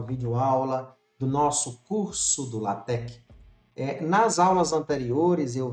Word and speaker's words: LaTeX: livros clássicos de introdução, eles fazem questão de dizer como é a pronúncia da palavra. Então, para que a gente retifique com relação às aulas anteriores, o termo correto é latec.